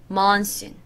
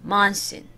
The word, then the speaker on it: monsoon: Monsoon. 약간 뭐, my 비슷한 소리예요. Monsoon.